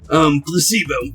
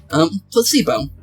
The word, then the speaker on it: placebo: Repeat after me. Placebo. The stress is on the middle syllable. Placebo.